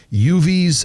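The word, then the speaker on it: Yuvi's: pop-up tomorrow inside the inner rail Food Hall uv's bake shop UVS is spelled y-u-v-i apostrophe s uv's bake shop is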